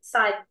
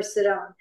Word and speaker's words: Sidon: He shall be a haven for ships, and his flanks shall be toward Sidon or Sidon. Excuse me, depending on your pronunciation.